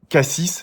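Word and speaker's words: Cassis: qui est connu le Marseille cass kass6 si vous savez pas le prononcer et j'y serai donc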